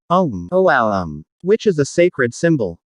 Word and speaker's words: Om: are combined it will become a um which pronounced om om which is a sacred